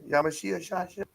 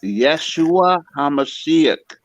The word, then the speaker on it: Yeshua HaMashiach: I appreciate y'all and yashia shash yeah Yeshua hamashiach can't you say it right Yeshua I'm a sh Song